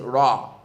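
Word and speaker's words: راء: Next one is ra. Ra has a little bit of roll when you pronounce it, and part of it goes below the baseline, correct?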